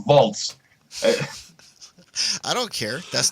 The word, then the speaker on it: Waltz: a movie show and you say Christoph bolts why I'm just I yeah you be the fab you like you almost corrected James it's christoph waltz hey I don't care